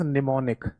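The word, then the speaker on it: mnemonic: That is निमोनिक। निमोनिक code या निमोनिक्स भी कह देते हैं। इसमें एम साइलेंट रहता है।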